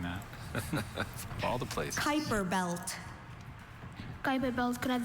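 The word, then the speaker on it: Kuiper belt: Kyper belt.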